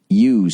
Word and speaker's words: ewes: Here's how you say it. Come on. You.